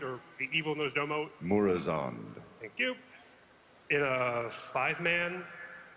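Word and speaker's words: Murozond: In the upcoming 4.3 End of Time, we get to kill, how do you pronounce it, Mormazoid, or the evil Nosdomo? Murazond.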